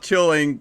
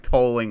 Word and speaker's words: Teuling: I know it's not Teuling, but I forgot what Stephen said the correct way to say it was. It was like tolling or something.